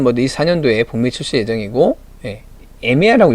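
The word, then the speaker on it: Emeya: 그래서 요걸 한번 해보려고 지금 준비 중에 있고, 자, 로터스 엘레트레라는 모델이 4년도에 북미 출시 예정이고, 에미아라고 읽어야 되니까 좀 애매하죠. 에미아라고 하는, 이미아라고 해야 되는 이 모델도 24년도에 내놓으려고 하고요.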